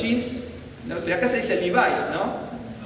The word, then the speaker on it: Levi: A los jeans, de acá se dice Levi's, ¿no? Pero no es Levi's, porque es del apellido Levi. Entonces, Levi es Levi, pero aquí se le pronuncia con pronunciación fonética inglesa.